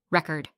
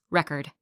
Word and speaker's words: record: If you stress the wrong part of a word, it can sound strange. For example, record, noun, a music record, versus record, verb, to record something, present, noun, a gift, verse, present, verb, to give something.